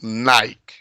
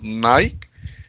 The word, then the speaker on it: Nike: un par de zapatillas nike te van a decir no hay por qué porque hay en eeuu y la pronunciación es nike y no es nike pero acá en perú